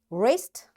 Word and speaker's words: wrist: W is silent when it comes before R.